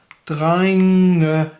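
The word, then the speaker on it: drengene: an E and not an ER, it becomes dreingene. So you've got kind of this double ending here as before. In drein, dreingen, dreinge, dreingene.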